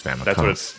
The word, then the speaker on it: Famicom: No, so you're not supposed to pronounce it though as Family Computer. You're supposed to pronounce it as Famicom.